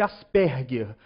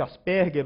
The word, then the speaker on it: Asperger: portadores da síndrome de Asperger a síndrome de Asperger ou asperg ou ou Asperger a pronúncia varia dependendo do do interlocutor eh São pessoas né